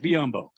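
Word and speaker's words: Biyombo: some time with it but right now bismack mccombo is uh am i saying it right yes bismack biambo this might be my favorite teammate i mean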